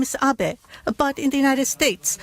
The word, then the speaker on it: Abe: over to the White House my name is Abbot apart in the United States some people mistakenly pronounce my name is Abe but that is not bad because even in